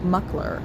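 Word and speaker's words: Mockler: But that's because I was watching, I keep saying, was it Adam Mokler? But I think his name is like Muckler, the way he pronounced it.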